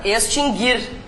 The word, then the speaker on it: extinguir: vimos a acentuação ã esse verbo se pronuncia assim mesmo m né extinguir por que que eu estou falando sobre isso porque várias pessoas dizem extinguir É e tem outro que sofre desse mal isso não tem nada a ver com reforma ortográfica né gente esses dois verbos nunca tiveram trema porque o u nunca foi pronunciado mas Há muitas pessoas